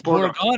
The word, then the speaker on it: Borggon: It's like I pronounced my last name. Borggon. Yeah. Not Borg. Not B. That's wrong, Paul. There's no E at the end of it. It's Borggon.